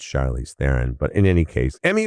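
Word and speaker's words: Charlize Theron: It's not Charlie's Throne, it's Charlie's Theren.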